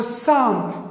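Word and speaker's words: psalm: और साम पी एस ए एल ए एम, साम, इसमें भी ये पी साइलेंट है.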